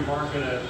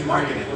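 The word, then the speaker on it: Markkanen: The 2 best shooters in the draft are Malik Monk of Kentucky and Lauri Markkinen of Arizona. Markkinen. My bad. I'm pronouncing his name wrong. It's Markkinen. Lauri Markkinen.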